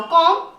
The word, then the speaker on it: comb: ध्यान से देखिए और देखिए, COMB, बी से पहले एम आ रहा है तो आप बी साइलेंट कर दो। कॉम, DUMB।